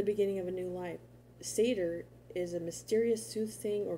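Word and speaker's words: seiðr: norse traditions of scandinavia comes the sorcery of seder that's how you say it okay the practice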